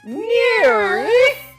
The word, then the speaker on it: NIIRYF: Those are the letters for the name of the show, and it's pronounced NEAR.